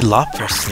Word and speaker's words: Lapras: me of lapras Lapras police say Lapras like it's spelled L open Ras I must ask for his five coins mr.